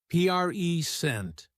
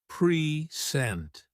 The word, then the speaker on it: present: When it's a noun, we stress the first syllable, present. But when it's a verb, we stress the second syllable, present. This small change in stress alters the meaning completely.